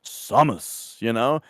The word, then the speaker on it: Samus: Melee, when you pick her as a character, the announcer pretty clearly says Samus. And so I was like, all right, that's how you say it.